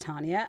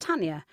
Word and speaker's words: Tanya: tanas funly enough and I like my name pronounced Tania and I do not like it pronounced Tanya now I come from